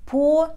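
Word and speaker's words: pour: слова по наливать например по sea in the sea cup наливать чай в чашку сложно сложно запомнить произношение слова по видите что комбинация 1а произносим звук о по вспомните как у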